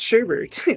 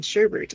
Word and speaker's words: sherbet: learned that sherbet is not pronounced sherbet that there's no second r in sherbert i've always called it sherbert and he's like it's not sherbert but that's i legit